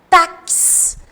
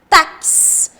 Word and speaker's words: táxi: agora o x Olha quando eu vou pronunciar taxi taxi observarão tem um som de um cá o X Ele reproduz dois fonemas o táxi que é